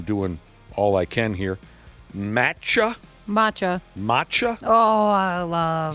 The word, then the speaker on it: matcha: Matcha.